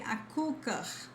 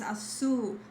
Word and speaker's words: açúcar: So don't say açúcar, it's açu. Don't say comecou, it's começou.